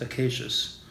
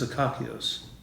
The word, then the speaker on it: Acacius: Of course, in English we pronounce it acacious. In Greek, it's akakios.